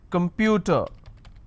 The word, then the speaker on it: computer: Next word, the most common word of the student life, computer. Let's start. Now observe here, computer, the word starts with C, but it's not a S sound, it will start with a K sound.